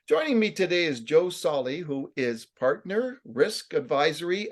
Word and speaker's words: Solly: I forgot to ask you, I hope I pronounced your last name right. Yes, Joe Solly.